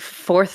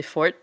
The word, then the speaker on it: Fourth: Like like fourth from fourth Gemini is actually Fort. Yeah. It's hard Um, too. It's like in there, English, it's like literally like the word fourth. yeah, But in Thai, it's like pronounced differently. yeah.